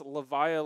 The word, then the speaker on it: Levia: But, and people are saying it's Levia, like Leviathan.